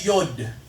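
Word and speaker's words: יוד: Alam niyo po sa Hebrew, kung titingnan niyo po, no, yung letter Y, ang pagbigkas nila dyan ay Yod.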